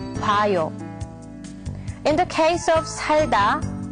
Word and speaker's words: 봐요: So in this case, it's not 보아요. But the correct way to say it is 봐요.